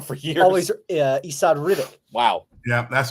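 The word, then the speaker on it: Esad Ribić: And I like Esad Rebic. I would read it Esad Rebic, but it's Rebic. It's Rebic? Oh, really? Oh my God! I've been wrong for years. Always Esad Rebic.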